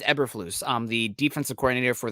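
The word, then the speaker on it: Eberflus: ever effortless uh the I can't pronounce the name that sounds too much too close to effortless for me eberfloose it's eberfloose um the defensive coordinator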